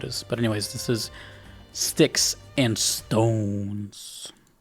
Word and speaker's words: Styx: is sticks and stones sticks is spelled like the band sticks so I'm going to